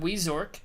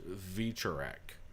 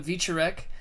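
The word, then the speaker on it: Wieczorek: prelims I would imagine we got Poland's Adam we Zork in a heavyweight bout well face a correction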